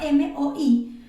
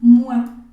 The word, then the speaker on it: moi: Moi pero resulta que en francés todo lo que tiene una o y una I se va a pronunciar realmente como si fuese una e una u y una a Entonces por ejemplo en este caso no decimos mu sino que decimos mua no voy a poner